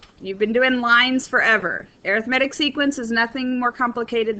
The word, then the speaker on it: arithmetic: That's why I am using the pronunciation arithmetic rather than arithmetic, which is a math, meaning for math and doing computations.